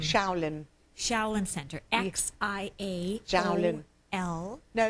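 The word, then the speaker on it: Xiaolin: Shaolin.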